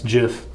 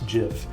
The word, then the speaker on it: GIF: about a good one what is the proper pronunciation is it gif or jif trevor it's jif no um you got to tell me why